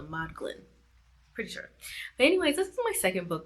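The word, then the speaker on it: Modglin: audio book pronounce it but it's m o d g l i n so mod Glen pretty sure but anyways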